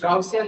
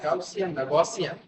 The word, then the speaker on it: Gaussian: ফর্মকে আমরা কি করব গাউসিয়ান না গসিয়ান আচ্ছা এক একজন এক এক ভাবে উচ্চারণ করছে গাউসিয়ানও হতে পারে এটা হতে পারে তাহলে আমি এটাকে গসিয়ান